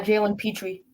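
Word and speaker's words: Jalen Pitre: there but yeah it look good play by Jaylen Petri the safety that's how you say it I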